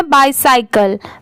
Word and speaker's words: bicycle: आपने इसमें एक चीज नोटिस किया, जैसे BI को B भी बहुत सारे जगह पर पढ़ा जाता है BIB, बट यहाँ पर इसकी साउंड क्या आ रही है बाय।